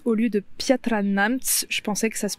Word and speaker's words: Piatra Neamț: en début de vidéo j'ai beaucoup dit piatra neamt au lieu de piatra neamt je pensais que ça